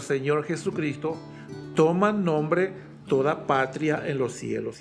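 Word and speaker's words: πατριά: como como familia eh es la palabra patria con acento en la a final así como patria de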